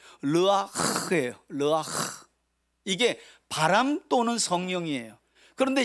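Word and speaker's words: רוח: 르아흐. 이 히브리인들은 가래침을 많이 뱉어야 이 원어가 발음이 잘 돼. 르아흐예요. 르아흐.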